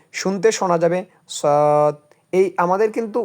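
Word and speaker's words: صاد: যদি আমরা বাংলাটা পড়ি ঠোট গোল করে উচ্চারণ হবে শুনতে শোনা যাবে সদ এই আমাদের কিন্তু উচ্চারণটা করতে হবে এইরকমভাবে সদ সদ সদ সদ সুতরাং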